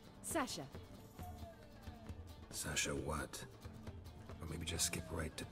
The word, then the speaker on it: Sasha: It's pronounced Sasha. That's Sasha.